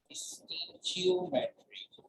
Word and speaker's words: stoichiometry: एक हम कर चुके हैं molar energetic number and second and last is this chemical stoichiometry. First O is sign. बनता है pronunciation stoichiometry.